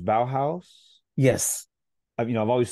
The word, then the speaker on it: Bauhaus: lyrics now you just said it is it pronounced Bauhaus yes you know I've always seen I don't